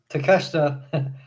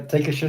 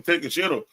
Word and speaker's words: Takeshita: Take a shitter."